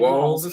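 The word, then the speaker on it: Walz: too but but but how do you say his name Waltz wals um like walls yeah they keep talking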